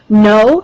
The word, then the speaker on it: gno: study of disease causes no GN o the g is silent um means knowledge so